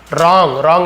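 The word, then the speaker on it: wrong: यहाँ पे W silent होता है, जैसे राइट लिखते हैं WRIT, राइट रॉन्ग, तो WR एक साथ है तो आप देखेंगे डब्ल्यू वहाँ पे साइलेंट रहता है, उसे साइलेंट लेटर कहा जाता है। यानी लिखते तो हैं लेकिन इसे पढ़ते नहीं, वो रॉन्ग नहीं पढ़ेंगे,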